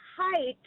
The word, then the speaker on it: height: The word height, but with a TH on the end, like Mr.